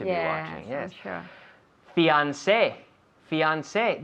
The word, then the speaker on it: fiancé: Fiancé. Fiancé. This is a word that we steal from French.